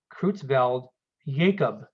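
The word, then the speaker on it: Creutzfeldt-Jakob: as kreutzveld jacob disease so this j is actually pronounced like a y krutz veld jacob disease and here we can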